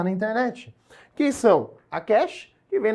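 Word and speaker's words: cache: internet que são a Cash que vem na pronúncia correta seria quê tá aí todo mundo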